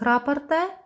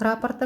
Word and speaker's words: раппорт: здесь тоже 3 полных раппорта мы провязали, 1, 2, 3. И четвертый, ой, простите, правильно говорить, раппорт, да, меня сегодня одна зрительница моя научила, загуглила, почитала, действительно, правильно говорить раппорт узора.